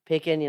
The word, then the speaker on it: Picken: Picken, rhymes with chicken, Chook.